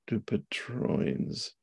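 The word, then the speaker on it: Dupuytren's: y n apostrophe s dupit trines d dupit trins there would be a long I there for the for the Y and Dutch do you often combine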